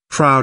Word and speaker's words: Froude: not from Carlisle himself but from his disciple Froude also a great historian to add to the fun crowd is pronounced just the way Keeley Reeves says Freud